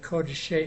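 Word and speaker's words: קודש: The first comments in Kodashim and Kodeshe is pronounced with O.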